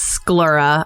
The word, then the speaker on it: sclera: Also, it's sclera. I just looked up a pronunciation.